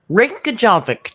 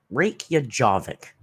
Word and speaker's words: Reykjavik: Reykjavik. Did I do good? Oh, yeah, babe. You're so smart. Thanks, babe. You're welcome, babe. Reykjavik. Reykjavik.